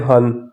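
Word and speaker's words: 한: तो वन को pure Korean में कहते हैं हन वहां पर इल था साइन कोरियन में यहां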